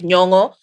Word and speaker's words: Nyong'o: name so that people hear how it's like Nyong'o. When she was in Hollywood, she had to pronounce it so people are like, oh, that's how you pronounce it.